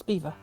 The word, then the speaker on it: Belvoir: It was on Belvoir Way, and the bus driver looked at me like I'd gone bonkers. But it's spelt Belvoir. I'm sorry, that's spelt Belvoir. No, it's Beaver.